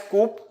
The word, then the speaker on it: coup: coup C okay so it is written as Coupe but it we pronounce it as coup so military has conducted a coup after conducting